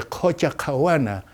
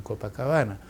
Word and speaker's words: Copacabana: à beira do lago, que a pronúncia certa é Copacabana, na tradução lugar onde se fazem rituais para o lago. E como os espanhóis não sabiam traduzir, se chama Copacabana.